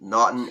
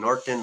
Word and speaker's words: Naughton: because I can say Naughton, N-A, but sometimes it sounds like M-A. Yeah. So I say November, A-U-G-H-T. But you can also say it like the honeymoon, you say Naughton.